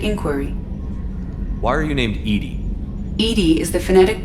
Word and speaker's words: EDI: have a specific inquiry why are you named Ed Ed is the phonetic pronunciation of Eed d i that is an